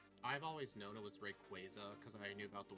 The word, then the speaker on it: Rayquaza: one oh no are we going to have pronunciation conflicts Rayquaza will yeah it's mostly Steve who does it okay oh really I used to do it too I've always known it was Rayquaza because I knew about the word like quazar